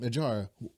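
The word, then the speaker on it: Nadjara: anyway what's your name Nar what Nar how you spell it that's what they always get that's how they always get messed up n a DJ A R A the D is silent I'm just going to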